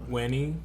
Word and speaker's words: Veni: Yes, but in Latin, in classical Latin, the V is pronounced like a W. Wenny.